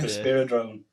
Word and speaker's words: Risperidone: I'm joined by Rob and Wig from Risperidone. I think that's how you say it. That's it. Yeah, Risperidone.